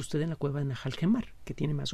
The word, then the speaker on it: Nahal Hemar: Lo que parecen ser J son H's, Najal Gemar.